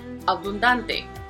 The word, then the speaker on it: abundante: And we see that this is a palabra llana because the prosodic accent is on the second to the last syllable. Abundante.